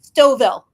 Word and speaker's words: Stouffville: Stouffville. I'm reading it and I'm like, I want to pronounce it that way.